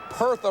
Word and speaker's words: Hertha: in the first half Hertha Robinson Bertha rhymes with Bertha and there he is